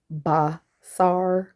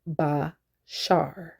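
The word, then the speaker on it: בשר: So the shin in the Paleo always makes the sh sound.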